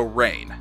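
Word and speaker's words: Reign: about the energy drink it's spelled r-e-i-g-n so rain yep oh oh yeah okay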